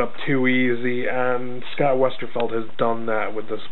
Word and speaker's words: Westerfeld: and i have to i make a conscious thought of pronouncing the author's last name correctly because i noticed everybody calls him westerfield when there is no i in his last name it's westerfeld um so another thing